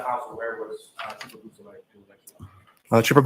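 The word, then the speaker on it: Beausoleil: Could you say that name again and spell it for us? Yes, please? sir. It's Trooper Jason Bousselet.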